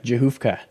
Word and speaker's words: Rzechowka: again so today is episode 201 with patricia johofka did i get your name yeah yours is